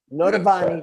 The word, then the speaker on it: Noitavonne: How do you pronounce Noitavonne. it? Noitavonne.